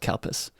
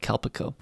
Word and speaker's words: Calpis: we are drinking today this is called calpes which sounds really weird in english let's get over that for a second yes it is spelled c-a-l-p-i-s no matter how it sounds it is spelled c-a-l-p-i-s and in in fact when it comes to america i think they changed the name to calpeco but in japanese it's called kalpas but i think i've